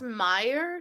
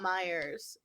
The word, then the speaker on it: Meyer: about the lemon though it's also pronounced Meyer not Myers for the lemon just to be clear